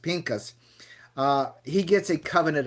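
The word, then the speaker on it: Phinehas: Eleazar's son and and the Bible says it calls him Phineas but it's actually pronounced Pinkas.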